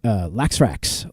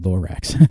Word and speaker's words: Laxrax: Laxrax. I almost said Lorax.